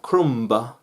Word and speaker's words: crumb: ah is silence and crumb crumb not crumb crumb it's crumb crumb when you're eating and